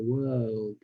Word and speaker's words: world: r through start with so pronounce it as word like the past tense of are were and then you add the L the dark which is what the o sound so were o becomes wo right and then du W du is how you pronounce it put it together and put the O deeper in your mouth world world it just